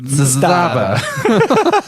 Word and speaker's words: Zastava: Which you're actually supposed to add. Zastava. That's actually the right way to pronounce it.